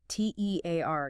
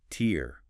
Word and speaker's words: tear: versus tear rhyming with hair or bear. That's the verb meaning to rip something like paper.